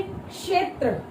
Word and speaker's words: क्षेत्र: आप इसमें देखोगे क्षेत्र, इसमें सबसे ज्यादा साउंड किसकी प्रोनाउंस हो रही है? क की। इसमें सबसे ज्यादा प्रोनाउंस किसकी हो रही है? क की। बोल के देखिए, क्षेत्र, क्षेत्र, क।